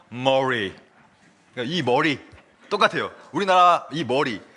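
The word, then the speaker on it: Murray: 존 머레이라는 분이 있는데 아 이분은 이제 사실이 발음이 존 머레이라고 적었지만 정확히 말하면 존 머리예요. 머리 머리가 맞아요.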